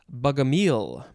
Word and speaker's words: Bogomil: All right, next we have, I think it is pronounced bugamile. Something like that.